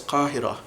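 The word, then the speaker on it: القاهرة: of the time, because they'll still pronounce Cairo as Qahira.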